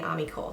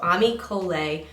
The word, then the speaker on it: Ami Cole: which yes I had a battle and I pronounced it incorrectly or I had a Roundup and I was saying amical so Ami kolei 19 I'm crazy about this mascara I'm wearing